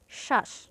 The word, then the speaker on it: শ্বাস: এরপর আছে শ্বাস এ শব্দের প্রথম শব্দটি হচ্ছে স এর সঙ্গে ব আছে অর্থাৎ স এর উপর অতিরিক্ত যোগ পড়বে এর উচ্চারণ হবে শ্বাস স্বজন এ শব্দের প্রথম